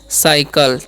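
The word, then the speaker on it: cycle: उसी प्रकार से यहाँ पर अलग हो जाएगा, सी के बाद अगर वो आई वाई ई रहता है उसका उच्चारण स हो जाता है, इसे पढ़ेंगे साइकिल। ठीक है, इसे हम पढ़ते हैं साइकिल।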